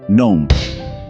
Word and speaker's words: gnome: Word 3 gnome, G silent.